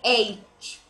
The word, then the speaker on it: H: Noakhali, Chandpur and Borishal, many of them regional languages pronounced as this letter H as haze, but it's not the correct spelling. It seems very funny, but it is not pronounced like this. It will be H, not haze.